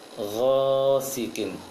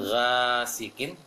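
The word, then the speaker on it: غاسق: Ghasiqin. Jangan ghasiqin, tapi ghasiqin. Ghasiqin.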